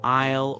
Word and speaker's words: aisle: English is full of ghost letters that you see but don't hear, like the S in aisle or the P in receipt.